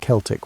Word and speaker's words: Celtic: The Celtic peoples, and yes, we pronounce it Celtic when talking about these historical folks, not the basketball team pronunciation, occupied a vast swath of Europe stretching from modernday Turkey to the Atlantic Ocean.